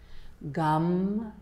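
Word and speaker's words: gam: seated posture we'll chant gum the bija mantra for Ganesha gum spelled g-a-m but pronounced like chewing gum and as we chant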